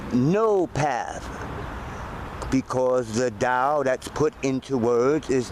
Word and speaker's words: Tao: your own life so the word da sometimes spelled with a d is a character made up of two other characters the word Dow way or path is